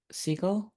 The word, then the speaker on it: Segall: So when I watched that, like I got about halfway through that conversation with Matt Segall.